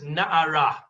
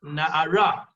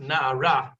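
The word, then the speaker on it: נערה: Only when you look in the Torah, that hey is missing, and it is spelt nun ayin reish, but it is pronounced na'ara, and it's pronounced na'ara because it doesn't make any sense if you pronounce it na'ar as a boy.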